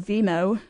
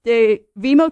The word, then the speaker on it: Vemo: So I've come across a startup called Vemo. It's spelled VEMO, Vemo Education.